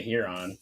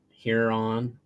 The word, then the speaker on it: Huron: do you say it I say here on Huron is how I've always said it too I say the h e sound yeah I do too here on here I don't know